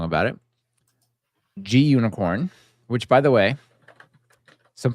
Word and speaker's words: Gunicorn: it's a green unicorn I'm pretty sure G unicorn stands for green unicorn not unicorn but you know you all say it how you wish but G unicorn is how I say it because it's a green unicorn mod whiskey Cherry Pie